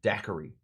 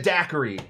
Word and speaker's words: Daiquiri: And Jennings Cox says, well, we're here in the town of Daiquiri. And they said, that's great. Nice and short. 3 syllables.